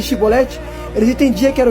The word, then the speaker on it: chibolete: é muito interessante percebe se os homens dissesse sibolete em vez de chibolete eles entendia que era